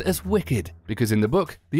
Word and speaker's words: WCKD: The notorious WCKD itself is pronounced as Wicked, because in the book, the acronym was WICKED, which stands for World in Catastrophe Kill Zone Experiment Department.